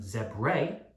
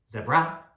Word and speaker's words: zebra: of a word so if the a is at the end of the word generally use the uh sound these can be words like zebra we're not saying zebrae or zebra it's zebra it's an